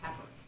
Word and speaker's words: papyrus: you familiar with Egyptian Papyrus or papus is pronounced both ways either way is correct they made paper and